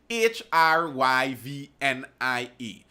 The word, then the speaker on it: hryvnia: Ukraine's how do you pronounce that? Hryvnia.